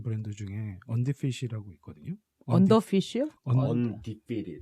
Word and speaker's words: Undefeated: Undefeated. 아, Undefeated. 언디페드. 제가 이가 빠져가지고 발음이 안 나요.